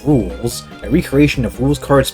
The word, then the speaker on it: Rouxls: First off, it's pronounced Rouxls, a recreation of Rouxls Kaard's boss fight from Chapter 2.